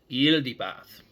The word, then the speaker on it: Yaldabaoth: but it does work very well if you pronounce it with an eel like with an eelody bath okay um and here's the funny thing I'm